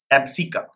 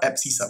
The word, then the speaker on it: abscissa: So this number, the first number of this pair, is called x coordinate, or it is also called Abscissa or Abscissa, whichever way you want to pronounce it, Abscissa or Abscissa.